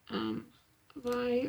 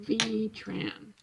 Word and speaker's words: Vy Tran: I wish I could have found Vi's, Vi, or it's V. I think you say it, you pronounce her name V-Tran. Not Vi, I'll keep wanting to say Vi.